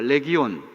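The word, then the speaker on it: λεγιών: 이름을 군대라고 대답을 합니다 군대라고 하는 말은 헬라 말로 레기온이라는 말이에요 아주 중요한 말에 따라합시다 레기온 레기온 이게 헬라 말이 고스란히 영어로도 리지온 똑같이 똑같이 스펠링이 똑같을 내 기운 레기온이라고 하는이 로마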